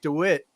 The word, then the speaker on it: DeWit: to bring you right now with mr dewitt is that the right pronunciation yeah man i've been called worse now